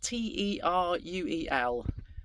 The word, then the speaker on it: Teruel: And it's spelled T-E-R-U-E-L.